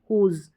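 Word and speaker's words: whose: जैसे कि यहाँ पर ये स्पेलिंग्स दे रखी है, ये सारी स्पेलिंग्स आ गई यहाँ पर, हु, होल, हुम, हुज। क्या है यहाँ पर W का तो उच्चारण, होल जैसे H से पढ़ा जा रहा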